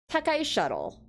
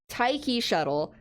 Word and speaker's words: Taiki Shuttle: Now, Takai Shuttle, you know, Taiki, thank you so much. Taiki Shuttle, the tassels on her boots that give, like, moccasin, and the matching gloves, and the unique outfit.